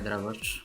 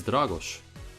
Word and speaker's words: Dragos: Hi Dragoš, what's up? Oh, it's Dragos.